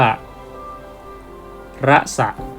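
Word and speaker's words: रस: เรือ สอ เสือ ขอ เขียน แค่ นี้ ก็ อ่าน ว่า ระ สะ ตัว พยัญชนะ ที่ ไม่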